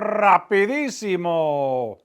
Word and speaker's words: rapidísimo: Rápido. Rapidísimo. Roll your R's, right?